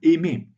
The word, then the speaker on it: aimer: Mais si on prend les verbes de la conjugaison en R, dans ce cas, le R n'est pas prononcé comme un aimer.